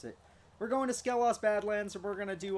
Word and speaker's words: Skelos: need to resi that skeleton that's how you pronounce it we're going to scale us Badlands if we're gonna do all the bad